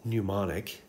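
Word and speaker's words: mnemonic: right here oil rig that knew not it's pronounced pneumonic it is oil rig so the o in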